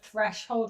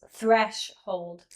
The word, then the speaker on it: threshold: funding so the The reason you're saying the word threshold wrong is you're using the accent on the second syllable. It's threshold.